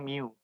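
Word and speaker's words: μ: Ini bacanya mu.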